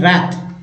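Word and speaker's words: wrath: डब्लू जो है यहाँ पर साइलेंट है, डब्लू लेटर जो है क्या है, साइलेंट है, ठीक है, इसलिए आर से स्टार्ट हो गया।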